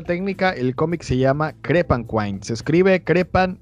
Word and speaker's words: Crepanquine: repito la ficha técnica el cómic se llama crepe and wine se escribe cree pan y luego le ponen kim pero se pronuncia crepe and wine la editorial es spaceman project los autores esgar